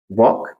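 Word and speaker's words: walk: नहीं आता वहां पे एल जो है वो साइलेंट हो जाता है एक और एग्जांपल हम लिख सकते हैं वॉक वॉक लास्ट लेटर क्या है इसका के और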